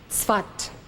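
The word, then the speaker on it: Safed: it is spelled sa Fe D but it's pronounced spot he arrived in the city of thought in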